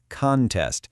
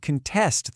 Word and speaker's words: contest: You can enter a spelling contest. See, the stress is on that first part. Or you could contest the results if you think something was unfair. Again, that stress shifts right to the end.